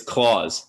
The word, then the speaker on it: Klaus: life growing up um it's claws like Santa Claus Claus not Claus not